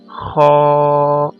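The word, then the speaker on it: خ: अदा किया जाता है, लेकिन लिप्स को कर्व इतना नहीं करना कि वो सर्कल हो जाए, इसलिए लिप्स को थोड़ा सा कर्व करना है और इस तरह से अदा करना है, खा।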